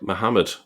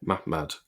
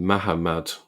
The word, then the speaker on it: Mahmad: But was it pronounced like Muhammad? The answer is no. Um, it wasn't pronounced like Muhammad. It was pronounced more like ma maad. Okay. Mahmad. All right. Or even mahammad. Okay. But not muhammad. Okay. That's the vowels are not the same.